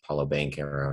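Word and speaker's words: Paolo Banchero: Banchero, I guess they've changed the pronunciation of his name like 4 times, but I think it's Paulo Banchero now.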